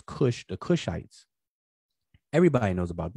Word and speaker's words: Kush: um everybody knows about takash which we pronounce as kush the kushites everybody knows